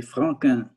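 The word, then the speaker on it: Franquin: q u i n and you pronounce it the french way frank okay he's a comic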